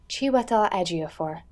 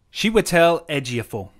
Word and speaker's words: Chiwetel Ejiofor: you actually pronounce his name how do we pronounce like Chantal I was before Chiwetel Ejiofor chiwetel ejiofor apparently she would tell LG for she would tell Ejiofor she would tell Ejiofor cool sorry dan I